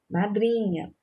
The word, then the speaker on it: madrinha: Então, a sílaba tônica é o drim, né? Lembrando, vamos dar aquela regrinha. Chama a palavra, né? Madrinha, madrinha, como se estivesse longe, você chamando, né, para perto. Madrinha, madrinha. A sílaba que se prolonga e sai um som mais forte, mais intenso é o dri.